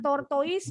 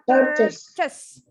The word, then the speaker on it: tortoise: Tortoise tapi bacanya bukan tortoise, bacanya tortoise.